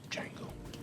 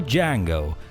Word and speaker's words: Django: Well folks, that's it for Django. The D is silent.